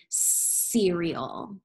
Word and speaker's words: cereal: Soft C, because this word has the soft C sound, because we see that it is followed by the E. So this is the word cereal.